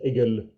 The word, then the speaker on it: Hegel: Hegel again he said some French pronounce it as egel and it sounds like Eagle in French yes and here ancient